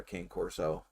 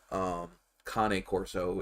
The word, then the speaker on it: Cane Corso: are looking at getting another king corso kane corso if you must say it correctly um but anyway um